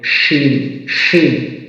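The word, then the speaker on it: شين: এখানে কালার করা রয়েছে জিহ্বার মধ্যখান অংশ এবং উপরে তালুর সঙ্গে মিলিত করে দিবেন শিন হরফটি উচ্চারিত হবে শিন শিন এরপরে আসুন জিহ্বার আগার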